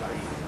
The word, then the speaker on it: Ai: Capital A, small I, pronounced Ai.